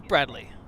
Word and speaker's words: Bradley: Tom Brady the satellite is that Brady It's Bradley it's a Bradley Tom Brady's a football